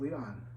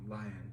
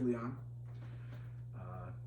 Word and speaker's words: Lion: supposed to be pronounced Leon, because the Japanese pronounce him as Leon. And as opposed to how Americans like to call him Lion because of the way that the Japanese spelled him in English.